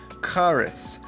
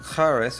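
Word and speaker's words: χάρις: Number five charis. Again, we have that X-looking thing in the beginning. It's not ch- like in English, it is ch- and we have charis or charis, which is grace.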